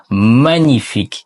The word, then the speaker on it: magnifique: G மற்றும் N ஒன்றாக வரும்போது, இதோ பாருங்கள், பிரெஞ்சு மொழியில் G மற்றும் N இணையும்போது, அதை 'ny' என்றுதான் உச்சரிக்க வேண்டும். C'est magnifique, இது வேறு எதுவும் இல்லாத அளவுக்கு மிகவும் அழகாக இருக்கிறது , magnifique அழகானது, அது அருமை.